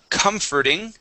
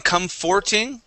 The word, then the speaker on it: comforting: the word uh comforting so instead of saying comforting comfor we say comfor comforting comforting uhhuh one more time comforting comforting uh how you put accent could you repeat huh at the very beginning comforting comforting just like